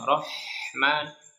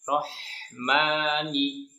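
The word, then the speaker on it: الرَّحْمٰنِ: Rahman, jangan Rahman, jangan kasih jeda. Rohmani, mani. Kalau diayun saja supaya tidak terlalu panjang.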